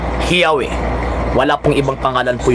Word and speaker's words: Yahweh: ng mga Jewish scholars, ang pinakamalapit na pagbigkas sa pangalan po ng Diyos ng mga Hebreo, yung mga schismatiko, yung mga schismatiko naman, yung mga sinasabi nating Shemites, Shematiko pala. Shemites is Yahweh.